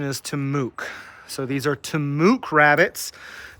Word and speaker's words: TAMUK: pronunciation of these uh it's it's the initials t-a-m-u-k Texas A M University Kingsville the proper pronunciation is to Mook so these are tamuk rabbits they were bred